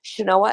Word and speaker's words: Chenoa: actually a question for both Madeleine and um shinoa am I pronouncing that correctly yeah it's perfect okay um